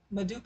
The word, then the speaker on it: Medupe: her what's the pronounceable correct way to pronounce your name medupe and i would say